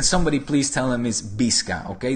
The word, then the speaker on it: Visca: Which, by the way, can somebody please tell him is Visca, okay? The V is pronounced as a B in Spanish and Catalan. It's not Visca, it's Visca.